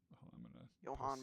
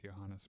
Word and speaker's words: Johannes: Johan Brahms. Johannes. His first name is pronounced Johannes Brms.